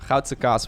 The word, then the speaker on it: Goudse kaas: Goudse kaas would be the Dutch pronunciation for that kind of cheese.